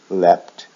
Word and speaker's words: leapt: is the same leap leapt leapt now the thing about leap is it has two forms one is left which adds the T sound and keeps it in the short vowel sound another form is what